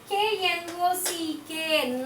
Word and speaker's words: knock: K-N-O-C-K. Knock. K-N-O-C-K. Knock. What is silent here? K, obviously. K is silent. K is silent. K-N-O-C-K. Knock. K is here. We are not pronouncing the sound K.